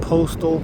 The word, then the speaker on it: Post'l: So this campground is called Postal Point. They do spell it a little differently than postal.